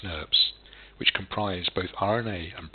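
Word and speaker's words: snRNPs: The spliceosome is composed of 5 individual small nuclear ribonucleoproteins, pronounced SNRPs, which comprise both RNA and protein components.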